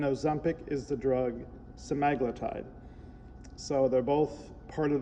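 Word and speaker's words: semaglutide: Some people say sem I say semiglutide but it's simaglletide when I've heard other videos that's how you're supposed to pronounce it.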